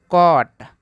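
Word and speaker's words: caught: स्वर है, तो यहाँ पे जी एच दोनों साइलेंट हो जाएगा। इसको पढ़ते हैं एट। इसको पढ़ते हैं दोस्तों कॉट, क्या पढ़ते हैं, कॉट।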